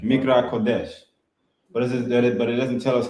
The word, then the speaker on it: Mikra Kodesh: Just like on our weekly Shabbat, it's commanded that we come together for how you pronounce it? Mikra Kodesh. Mikra Kodesh.